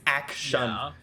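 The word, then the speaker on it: Akshan: I thought it was pronounced Ashcan. No, it's not like AKS. It's Action.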